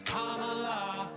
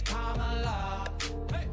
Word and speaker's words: Kamala: Her name is Kamala. It's not Kamala, no, her name is Kamala. Emphasize the first syllable, it's Kamala.